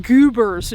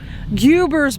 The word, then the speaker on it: Guibor: Now here we get to what I think is pronounced Guibor's, G-U-I-B-O-R. Guibor? Guibor's battery.